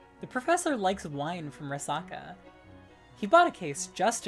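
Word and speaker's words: resaca: Oh, so I did pronounce it Rasaka, correct.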